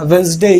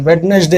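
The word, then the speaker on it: Wednesday: रहे होंगे guide वेनसडे मैंने बोला वेनसडे बोलते हैं वेडनेसडे नहीं बोलते तो इस चीज में आप छोड़ रहे कि यहां पर डी साइलेंट होता है फ्रंट यूज करते हुए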